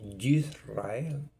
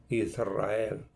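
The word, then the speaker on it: ישראל: Israel en hebreo se pronuncia Yisrael, Yisrael, como que es una Y con la mención de Ye, Yisrael. Y se nos ha enseñado a mencionar Israel y es Yisrael.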